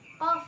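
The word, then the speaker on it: ق: Nah, ini itu disebutnya qaf ya, bukan kaf. Kaf itu beda lagi. Kaf itu kaf biasa ya. Kalau ini qaf. Jadi di sini qaf.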